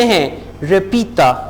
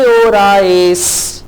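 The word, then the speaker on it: hora: नहीं 8 नहीं बजे हैं। रिपीटा, दोहराइए। ख्वान, कॉन्टेस्टे जवाब दीजिए। के ओराएस, के ओरा, अब स्पेनिश में एच जो है वो साइलेंट होगा, आपने इसको होरा नहीं कहना बल्कि आप कहेंगे ओरा।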